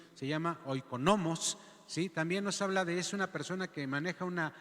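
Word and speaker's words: οἰκονόμος: Pero también en este llamársele mayordomo, que se dice en la palabra en el griego, la pronunciación se llama oikonomos, ¿sí?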